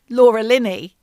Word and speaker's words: Laura Linney: It also starred Laura Linney. And that is how you pronounce her name, not Richard Gere.